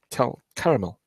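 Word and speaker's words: Tell Qaramel: And plaquettes from Jeffrey Al Armour and Tel Caramel. Yeah, Tel Caramel.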